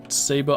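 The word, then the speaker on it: sabot: shoots i think that's is it technically pronounced sabo i've always said savage but i think it's technically sabo slugs it would be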